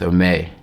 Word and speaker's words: Aimé: And what people make a mistake, they pronounce it with the accent on the A, but the emphasis is on the E, so it's Aimé. Aimé.